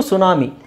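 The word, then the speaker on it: tsunami: ಟೀ ಇಲ್ದೇನು ಹೇಳಬಹುದು okay ಇದು ಸುನಾಮಿ ಸುನಾಮಿ ಸುನಾಮಿಯಲ್ಲಿ T silent ಆಗಿರುತ್ತೆ ಓಕೆ ಆಮೇಲೆ ಇಲ್ಲಿ ನೋಡಿ ರೆಸೆಲ್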